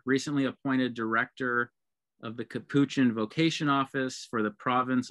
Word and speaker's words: Capuchin: correction eddie it's pronounced capuchin most people say capuchin and that's totally normal um we hear that all the time but it's capuchin like the capuchin monkeys got it so i've